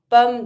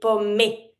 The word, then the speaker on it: pommes: Il mange pommes de terre. Careful, some students say pommé. It's not pommé. Every time you see E without any accent, mute.